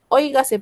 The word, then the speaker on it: óigase: Óigase pues lo que voy a exponer. Óigase. ¿Cuántas sílabas tiene óigase? Hoy, ga, se.